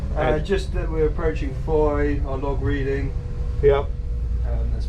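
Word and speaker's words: Fowey: so foi oh it's it's actually spelt flowey f o w e y but it's pronounced by locals foy is straight in there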